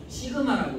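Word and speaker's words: σ: 시그마라고 읽습니다. 시그마. 이거는 로우라고 읽습니다.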